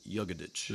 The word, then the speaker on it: Jagodic: I said it close, right? He pronounces it Jagodic. Jagodic.